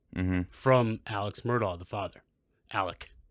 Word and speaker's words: Alex: alex murdoch the father alec as they pronounce still still grinds my gears to do that but